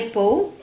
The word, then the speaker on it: Poe: es en la vida de Pou que se escribe Poe bueno es una persona